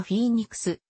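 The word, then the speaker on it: Phoenix: ことが多いが英語での発音はフィーにクスでありフェニックスなどの表記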